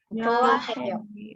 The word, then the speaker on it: 좋아해요: Apalagi yang dia tidak dibaca adalah contoh seperti ini. 좋아해요. Choaheyo. Hanya benar-benar tidak dibaca. Choaheyo. Hanya sangat tipis seolah-olah tidak ada.